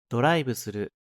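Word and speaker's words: ドライブする: ドライブする、 There is no V sound in Japanese, so it's changed to a B.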